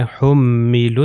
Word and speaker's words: حملوا: ہیں۔ یہاں پر ہے حملوا التوراۃ، اب یہاں پر دیکھیے یہ واو اور الف، حملوا میں واو اور الف تلفظ نہیں ہوگا، اور اس میں الف